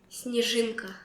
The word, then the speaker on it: снежинка: Снежинка.